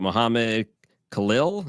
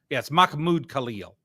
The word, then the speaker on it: Mahmoud Khalil: Mohammed Khalil, is that how you say it? Either way. Well, it's yes, Mahmoud. 20 million. It's Mahmoud Khalil.